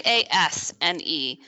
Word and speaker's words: Asnelles: Well, it's actually Asnelles. So I think the S is silent.